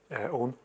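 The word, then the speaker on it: Eoghan: Now, help me with this, Owen, but the Irish for Owen is? Owen. Oh, is it? Yeah. But it's spelled differently. Let me give you the Gaelic spelling, which is E-O-G-H-A-N, and it's pronounced Owen, is it?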